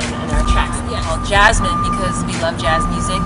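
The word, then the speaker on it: Jazmin: Well, Jasmine, because we love jazz music, we love jazz chords, and we put it into the name of our group.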